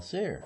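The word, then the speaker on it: Cyr: Paul Sear. Paul Sear. But how do you spell it?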